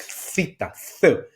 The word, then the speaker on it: theta: I know this is a little bit difficult to pronounce is like theta. It's like more of the Spanish uh pronunciation.